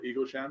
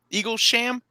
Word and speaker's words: Eaglesham: The art is also done by Dale Eaglesham, who's one of my favorite artists. So say his name again. Eaglesham. Yeah, Eaglesham. Eaglesham. Got it. Not Eagles Ham, which would have been such a cooler last name.